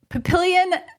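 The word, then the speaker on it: Papillion: Oh, is that how you say it? Uh, in Nebraska. Yes, they say pilion.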